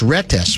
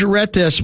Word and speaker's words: Retes: Have you read about the ordeal of 26-year-old George, I believe it's pronounced Retes. It's R-E-T-E-S.